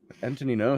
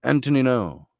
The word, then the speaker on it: Antonino: And what syllable is the emphasis on? Antonino. Is it on the an? An is the syllable of emphasis. Antonino. Or is it Antonino? Or is it Antonino? Or is it Antonino? Antonino sounds good.